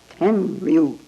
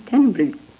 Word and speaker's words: Tenryu: Tenryu. What do you do with the U? You don't pronounce him. Tenryu.